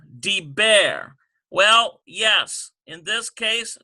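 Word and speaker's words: דבר: We have deber. Deber. Well, yes, in this case, dagesh forte. D-E-E-B-B-A-Y-R. Deber. And we've got BB sound, because that doubles that bet.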